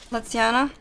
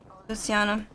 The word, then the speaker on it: Lutziana: If you guys don't know how to say my name, it's pronounced Letiana. I swear, like, everyone that doesn't know me or sees my name for the first time calls me Luciana.